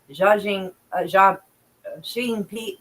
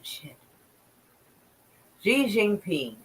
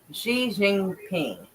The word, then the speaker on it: Xi Jinping: meet with Chinese President Xiaing Xia Shing P. Wait, Xi Jinping. That's it. Because I think this is pronounced as a she sound. I do believe. So Xi Jinping.